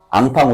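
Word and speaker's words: enfant: 앙팡 우유 알아? 앙팡 우유. 앙팡. 앙팡이야. 예.이 이 근데 얘네들은 N을 앙으로 발음하니까 인폰트가 아니라 앙빵인데 이거를 그대로 미국 애들이 영국애들이 인폰트로 읽고 자존심 상하니까 2만 아이로 바꾸는 거거든.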